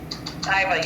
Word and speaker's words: Iva: Is it Iva? Iva, yes. Yes, it's Iva.